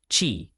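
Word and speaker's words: Qi: TCMQ chi pronouncedq chi is the fundamental life force or vital energy that animates all living things.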